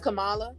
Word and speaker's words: Kamala: we think but um he has chosen pamela kamala i don't can't really understand it's kamala yeah no kamala she goes like okay all